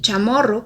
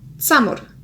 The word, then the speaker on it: Chamorro: La letra y suele pronunciarse como ts y el sonido ch se asemeja más al de ts que ch. Por ejemplo, Yona, que es parte del territorio de Guam, se pronunciaría como tsonia, y chamorro, que es como lo